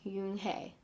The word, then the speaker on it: Unhei: Yes, it's pronounced Unhei. It means grace, Mr. Kim added. Unhei, Joey said slowly, and this time perfectly.